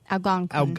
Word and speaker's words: Algonquin: Algonquin. Algonquin. So, okay, I started off not pronouncing it right.